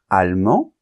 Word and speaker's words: allemand: et n argentin Argentine allemand on nentend pas la lettre D parce qu'elle est en position finale allemande et on va entendre